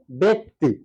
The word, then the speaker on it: ব্যক্তি: পয়স্যিকার ব্যক্তি হয়ে গেল উচ্চারণটা হবে ব্যক্তি নয় ব্যক্তি সঠিক উচ্চারণ হচ্ছে ব্যক্তি এবার চলে যাই একটি